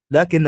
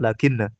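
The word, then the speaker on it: لكنْ: Berarti di sini dia bisukunin nun. An-nun sakinah. Lakin hakadha naqra. La taqul atau la taqra lakinna. Kalau antum bacanya lakinna berarti setelahnya harus mansub.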